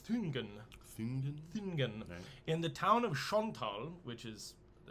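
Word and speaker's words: Schöntal: in the town of Chantal which is the it's probably pronounced because it's s-c-h where with an um loud n-t-a-l and that's in bottom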